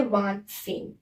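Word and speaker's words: vingt-cinq: 25 को बोलते हैं वांत सेंग। क्या बोलते हैं? वांत सेंग। इसको व, इसको सेंग साथ में मिला के इसको बोलते हैं वांत सेंग।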